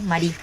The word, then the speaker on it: Marie: empieza a hacerse llamar Marie. Claro, porque no nombra el Marie, sería la última letra en la E, en francés no se dice.